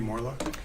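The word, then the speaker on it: Morelock: your full name for the record Morlock and will you please spell it spell it uh my last name Morlock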